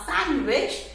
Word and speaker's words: sandwich: तो next time when you go somewhere and you order a सैंडविच, pronounce it correctly. तो इट इज सैंडविच, नॉट सैंडविच. डी को भगाना है, right?